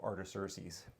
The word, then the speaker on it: Artaxerxes: I actually listened today of the recorded pronunciation of Artaxerxes.